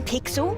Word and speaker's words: Pixel: we are today i'm pixel it's easy to remember because it rhymes with pickle so it does i'm